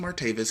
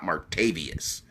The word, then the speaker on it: Martavis: V asan everything no it's just martavis his mama you know decided to get cultured or whatever I don't know what the but his name's mark tape is not martavius you know that's all